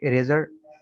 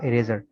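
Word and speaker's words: eraser: कि इरेजर, इसका ई साइलेंट नहीं है, ये पूरा बढ़ जाएगा इरेजर।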